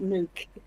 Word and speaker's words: Nook: okay so um yeah so everybody Welcome Nara nuke y thank you Nar it's be here right now we'll discover why Mal pronounces it nuke and not Nook we're very curious to know that um I